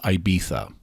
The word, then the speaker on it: Ibiza: I looked up how to pronounce it, and there are several different ways. The way they do it in the tape or in the recording is Ibiza.